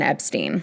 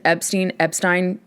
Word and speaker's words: Epstein: circa 1963, with the band's homosexual manager, Brian Epstein." Pronunciation: Epstein, pretty much interchangeable. Epstein is actually the way that it was pronounced